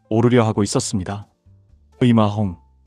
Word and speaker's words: 임아홍: 이마홍, 또는 중국식 발음인 리마홍으로도 알려진 이 사내는 16세기 중반 광동성과 푸젠성 일대에서 악명을 떨치던 해적이자 동시에 강력한 군벌이었습니다.